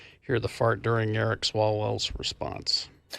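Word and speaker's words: Swalwell: Sal Swallwell. Swallwell.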